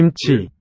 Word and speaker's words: 김치: And chi, 김치, second syllable, also aspirated.